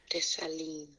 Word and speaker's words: Dessalines: How do you pronounce Dessalines? Dessalines.